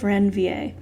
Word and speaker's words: Ranvier: called the node of ranvier it's french so you don't pronounce the r the node of ranvier and it's going to